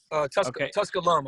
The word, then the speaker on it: Tusculum: It mentioned that you were heading to Tusculum, and am I pronouncing that right? You are Tusculum, I think.